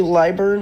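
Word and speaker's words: Lilburn: I say Atlanta, it's actually Liburn, I think is how you pronounce it. But either way, Liburn.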